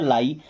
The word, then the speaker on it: lie: LIE, तो एल से बनता है ल, और IE से आई, क्या बन गया लाई।